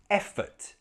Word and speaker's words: effort: The stress is in the first syllable, eh, so we pronounce that sound correctly, eh. The next syllable, not stressed, so schwa, effort, effort.